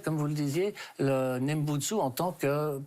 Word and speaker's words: Nembutsu: Voilà, donc la pratique, pour faire simple, c'est dans la prononciation japonaise, je l'utilise parce que c'est la plus facile, c'est Nembutsu.